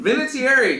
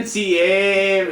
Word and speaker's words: Vinatieri: I emphasize the extra I.